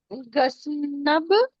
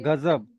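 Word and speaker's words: غضب: अ, गसनब, नहीं नहीं, गजनबी, ना नहीं है, ना नहीं है। ग, ये गजब। गजब, वो ज्वाद में ऊपर नूर, नुक्ता आता है ना, तो वो अ, वाला नुक्ता है।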